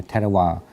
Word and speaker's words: Theravada: The V you don't have to pronounce as English V, but you could pronounce the W. It's fine because exactly the word in the language you don't have V and W.